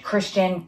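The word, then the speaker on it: Krystian: Which actually I just saw on YouTube, a YouTuber, her name is Christian, but the K-R-Y-S-T IAN or something like that. And she pronounces it Christian.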